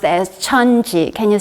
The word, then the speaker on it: 천지: In Korean, in Chinese character, it's pronounced as 천지.